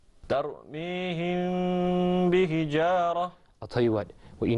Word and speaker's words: ترميهم بحجارة: The correct way to say that is ترميهم بحجارة. ترميهم بحجارة.